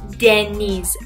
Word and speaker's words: Deniz: However, in Turkish or Farsi, they pronounce my name as Deniz. So this E here is very prominent in Turkish or Persian pronunciation.